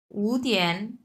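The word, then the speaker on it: 五点: হুম, আচ্ছা, শিয়াউ এটা হচ্ছে নর্মালি উচ্চারণ করতে পারবেন, আর উতিয়ান এই দুটা যেহেতু পাশাপাশি, সো এই উটা হচ্ছে 2 নাম্বার টোন হয়ে যাবে তখন।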